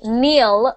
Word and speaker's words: kneel: in the chat there Neil and Neil like K NE l sound the same what does Neil mean